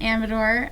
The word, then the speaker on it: Amador: Also, we've all been saying your name wrong, I just realized, because you say Amador, Yeah, and we've all been saying Amador.